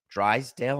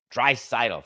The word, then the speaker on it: Draisaitl: Drysdale? I got the name wrong. That's Don Drysdale. Drysdale? Draisaitl. Thank you, Coca.